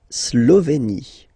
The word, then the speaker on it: Slovénie: La Slovénie. Remember, you get this E accent aigu here, it's E. Slovénie. Final E, as usual, not pronounced.